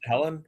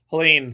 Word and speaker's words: Helene: Helen, right? Helen, right? Helene, sorry.